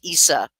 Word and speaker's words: Isa: It sounds like the word ice, Isa, but it also, and it means ice.